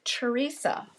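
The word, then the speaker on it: Theresia: It is Teresa. However, it is spelled T H E R E S I A.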